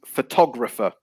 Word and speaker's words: photographer: say photography photograph and photographer so the stress is on the second syllable so i think i